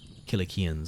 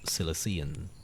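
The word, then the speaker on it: Cilicians: with the better known kilikians of Southern Anatolia now my pronounce be pronounced silician nowadays but we'll trust the hard K of the Greek whose foot thieves sat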